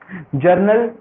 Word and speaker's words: journal: जर्नल ये general नहीं है, जर्नल है।